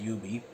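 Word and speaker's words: Yoobie: that's that's actually uh y o o b i e so that's but they pronounce it as you be and these are books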